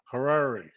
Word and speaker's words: Harari: we uh welcome mark carrari am i pronouncing it correctly yep just rhymes with ferrari okay harare okay mark welcome to